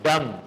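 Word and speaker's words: dumb: noun then word डम इसमें B silent है ब क्या है डम नहीं पढ़ना है इसको डम बोलिए डम गूंगे को कहते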